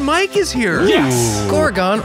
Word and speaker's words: Gorgon: Gorgon rhymes with Oregon.